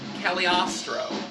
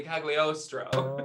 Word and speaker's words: Cagliostro: live assistant announces that this is the great caliostro that's the last time we'll hear it pronounced like that because it's actually cagliostro but the first time we hear it it's